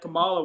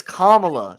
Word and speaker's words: Kamala: Comrade Kamala will tax you on Jellystone. Kamala. Why is that racist? It is spelled Kamala or Kamala.